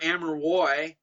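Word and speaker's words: Amerois: chilling offshoot of that amari is spelled or amara roy if you want to french it up is spelled a-m-e-r-o-i-s the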